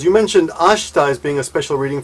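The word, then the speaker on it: 明日: Now notice that ashita, the I is barely pronounced. You don't say ashita, you say ashita.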